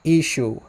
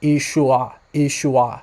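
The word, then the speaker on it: ܝܫܘܥ: But in the Western dialect, it's pronounced Ishu. When you're writing it out, there is that letter ayin at the end. So it's possible that earlier on it was pronounced Ishua, something like that.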